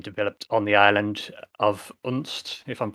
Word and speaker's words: Unst: I was saying I'm not exactly sure how it's pronounced myself, but I believe Unst is correct.